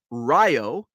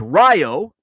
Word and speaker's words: Rio: John spelled it rov-a Ryo which is spelled like Rio but in Illinois everything is pronunciated pronounced pronunciated pronounced differently from how we know it worldwide so it's Ryo spelled like Rio uh R is Oneida